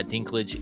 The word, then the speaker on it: Dinklage: Peter Dinklage, yeah.